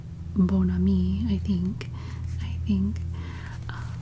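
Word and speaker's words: Bon Ami: for the cleaning product Boni of course that's more of the Americanized pronunciation Boni I think the more the French pronunciation would be uh bonami I think I think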